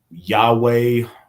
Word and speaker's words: Yahweh: His name is Yahweh. Some folks would pronounce it Jehovah, but that's a Hebrew thing.